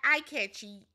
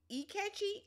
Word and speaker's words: Ikechi: It's not eye-catchy. E-catchy? E-catchy?